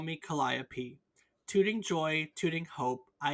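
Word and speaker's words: calliope: Greek Muse by the same name is produc kayia but the instrument was usually pronounced kop cop there you go wait actually yeah 100%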